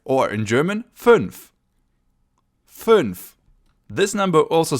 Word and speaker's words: fünf: So you make a U sound, in German U, and then you round your lips, so U becomes Ü. Just like in fünf, 5, fünf.